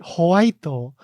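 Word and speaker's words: ホワイト: You have to pronounce it Whiteo.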